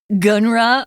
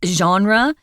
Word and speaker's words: genre: Now, genre is kind of a weird word because it's French. And so we take the French pronunciation genre. We don't say genre or gunra or whatever, but it's genre.